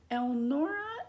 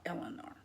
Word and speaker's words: Elnora: It irritated me that my best friend's mother kept saying her name wrong. Eleanor was that former president's wife's name. Many times I corrected her. Elnora, Elnora, Elnora, not Eleanor.